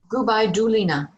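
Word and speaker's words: Gubaidulina: All right, and how do you pronounce her name again? I just want to make sure I get it right. Gubai Dulina.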